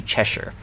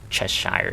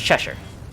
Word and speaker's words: Cheshire: So like the Cheshire right there is actually Cheshire, not Cheshire, even though intuitively the way the name is pronounced looks like it should be named or pronounced Cheshire, but it's Cheshire.